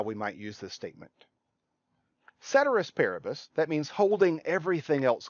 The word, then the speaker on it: ceteris paribus: with me ceteris paribus some people will pronounce this latin phrase caterers paribus Latins a dead language we don't know how they pronounced it but most people will pronounce this ceteris paribus sometimes we'll call this